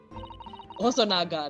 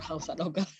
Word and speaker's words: Hosonaga: Hosonaga, not Housanoga.